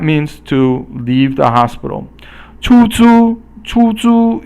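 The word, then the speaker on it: 出租: 出租 is the both first tone, and 出租 means to rent something.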